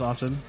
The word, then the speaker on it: often: It would be an often. I will not judge you. Often, it's in the word. Often, it's there. Have you ever heard anyone say the T is silent?